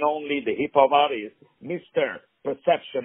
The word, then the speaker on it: PRCPTN: very talented hipop arst his name is perception but it is spelled p r c ptn he is very creative already with his name as you can hear